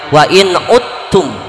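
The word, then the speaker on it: وإن عدتم: Biasa saya baca dalam surat itu, asa rabbukum ayyarhamakum wa in udtum dibaca, ditulisnya dibacanya wa in uttum, dal ketemu tak.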